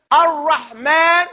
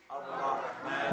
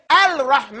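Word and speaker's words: الرحمن: Don't you know that when we say Ar-Rahman, say it? Ar-Rahman. There's a lam in there? No. Yeah, there's a lam right there, but we don't pronounce it, do we? Yes. We don't say Al-Rahman.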